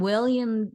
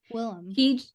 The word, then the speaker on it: Willem: and William Dafoe. Willem. I know, but he changed it. He even said, "Oh, I just wanted people to call," because I think his dad and him had like the same name or something, and so he's like, "I just want people to say Willem," and I'm like, "Look